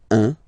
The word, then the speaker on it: un: Alright, so when you combine this U and N, you get the nasal sound 1, 1.